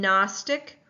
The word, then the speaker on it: gnostic: In Gnostic, we do not hear the G sound. We just hear the N sound.